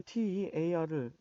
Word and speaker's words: tear: 흔히 우리 TEAR을 보시면 대부분 학생들이 뭐 노래 Tears in Heaven처럼 tears, 눈물, 울음 이렇게 하기 쉬운데 이때는 동사입니다.